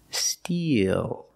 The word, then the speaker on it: steal: can take their picture now let's look at these two words these two words are pronounced exactly the same steel using the long e like green beans d eel steel when